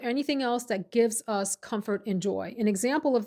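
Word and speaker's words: Comfrt: the Lola blankets, including that hoodie brand, Comfort, CO MFR T. No syllable in the second part, Comfort.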